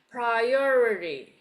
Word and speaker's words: priority: you Curl it to the middle like that priority priority priority ah there go Almost almost yes